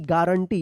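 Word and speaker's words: guarantee: थे हम क्या पढ़ेंगे गारंटी जी यू ए आर ए एन T double E गारंटी यहां पे यू साइलेंट रहेगा ठीक है तो देखिए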